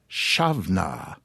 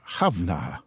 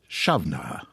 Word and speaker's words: Samhain: the barely pronounceable Samhain should be pronounced Shavna if you're a male, or Havna if you're a female. However, as I understand it, nowadays most Gaelic-speaking folk, men or women, simply pronounce it Shavna.